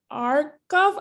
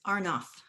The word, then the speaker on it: Arnoff: we have the privilege of speaking with allison arkov i may have mispronounced your last name um thank you for joining me today allison glad to be here thanks for having me and it's arnoff far enough my apologies for mispronouncing it so